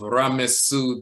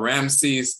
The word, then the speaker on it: Ramesu: That is from the temple, or not the temple, but the tomb of Ramesu the sixth, or so-called Ramses the sixth, but Ramesu the sixth.